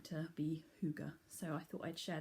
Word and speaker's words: hygge: not have seen before and it says it's pronounced hygge and it comes from denmark um and it's